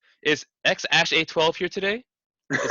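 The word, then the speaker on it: X Æ A-12: It'd be they finally released the name and it's X Ash 12, X Ash A12.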